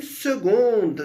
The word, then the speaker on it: seconde: Une seconde, né? A particularidade de seconde é que se escreve com C.